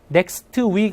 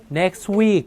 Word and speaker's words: next week: 자, next week 할 때도 얘도 next week 아니라 next week, 그죠? next week. T가 거의 안 들려요. next week. 이렇게 가셔야 돼요.